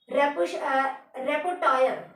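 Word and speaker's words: repertoire: Learning is rather a question of increasing a behavioural रेपोटायर, ठीक है, रेपोटायर, यहाँ पर आर साइलेंट है, रेपोटायर।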